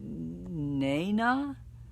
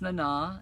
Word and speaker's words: Nana: way uh clayton george nana visitor's first name is pronounced in na oh yeah uh sorry i've been pronouncing it nena learn something new every day well you're welcome but no uh yeah it's nana and she she's very